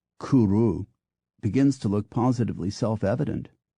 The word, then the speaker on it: cwrw: simply OA against this the Welsh pronunciation of cwrw Kuru begins to look positively